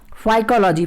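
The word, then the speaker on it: phycology: शैवालों का अध्ययन होगा साइकोलॉजी साइकोलॉजी की स्पेलिंग ध्यान से देखिएगा जैसे आप साइकोलॉजी पढ़ने हैं इस तरीके से यहां पे पीस साइलेंट राहत है पी हा ए ध्यान रखिएगा साइकोलॉजी इसको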